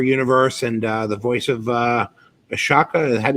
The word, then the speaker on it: Ahsoka: Ashley Eckstein from her universe, and the voice of Ashoka. Is that how you say it in Star Wars? Ahsoka. There you go.